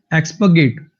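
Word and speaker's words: expurgate: एक्सपगेट एक्सपगेट ये बीच में जब आ रहा आता है ना तो लगभग साइलेंट सा ही कर देते हैं इसको अंग्रेज। एक्सपगेट एक्सपगेट एक्सपगेट।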